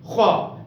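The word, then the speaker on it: خ: With full mouth we should pronunciate kha because it is belong to the Huruf Mustaliyah.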